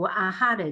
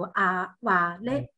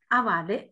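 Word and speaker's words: あはれ: 读音啊，所以现在我们读的话就不读阿哈雷，就读阿瓦雷，阿瓦雷这样发音。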